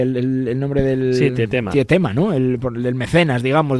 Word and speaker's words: Tietema: Se pronuncia Tietema, o ¿cómo se pronuncia el nombre del...? Sí, Tietema.